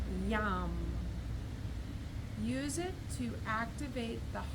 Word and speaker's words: Yam: It's pronounced Yam.